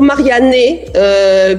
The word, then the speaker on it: Marianne: Italiens disent Marianne alors je leur prononce toujours Marianne puisque le E se prononce E parce qu'autrement c'est la catastrophe mais en fait Mariana